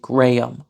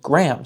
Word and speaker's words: Graham: similar to the name the British pronunciation of this name will often be gram with two syllables and there are lots of Americans who still pronounce it that way but there are also lots of Americans who pronounce it Graham so that it rhymes with this word so why does this